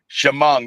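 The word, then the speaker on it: Chemung: Spent the entire day yesterday in She pronouncing that right. Uh Asphalt Track up in New York. Shimong. Shimong.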